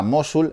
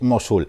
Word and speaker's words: Mosul: dado cuenta de que no sabía pronunciar mosúl la estaba haciendo la crítica llamándola mosúl hasta que chequeado donde donde chequeamos todo tomamos a google que es nuestro dios no nuestro dios y nuestro demonio y el mirado y es mosúl así que hola que